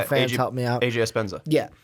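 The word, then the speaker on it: Epenesa: You've got Chauncey Golson and then AJ, I'm going to say this name wrong, Espenzenza? I said that wrong. Oh, Iowa fans, help me out. AJ Espenza.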